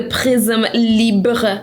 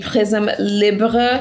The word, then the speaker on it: Prisme Libre: This is the Prisme Libre setting powder. I looked up how to say it in French, and that's how you say it.